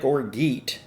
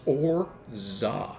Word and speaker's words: orgeat: Yes, it looks like orgit, but it's pronounced orzah.